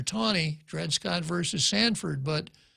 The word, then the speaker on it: Taney: People pronounce it Taney, but it's Roger Taney, Dred Scott versus Sanford.